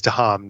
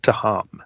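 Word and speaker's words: Tehom: on that is fair uh so the official pronunciation is to ham t-e-h-o-m to ham i don't know why i put that out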